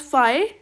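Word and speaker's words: phi: Incorrect as फाई मैंने बताया था आपको इसको प्रोनाउंस करना।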